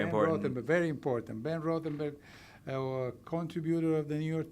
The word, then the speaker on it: Rothenberg: Ben Rothenberg, contributor of the New York Times.